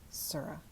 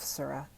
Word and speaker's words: Sura: used that is fascinating sarah sarah okay i technically mispronounce it so i'm gonna read it again remove yourself sura the wench belongs to